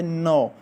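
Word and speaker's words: know: अच्छा उसके बाद है नो जानना नो जानना इसमें के साइलेंट है सो नो जानना अच्छा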